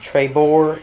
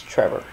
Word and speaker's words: Trebor: A lot of people pronounce it Trebor. It's Trevor. Coleman Trebor.